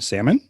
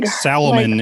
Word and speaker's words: salmon: to say things correctly would you would you also pronounce the l in salmon now no and yes i silently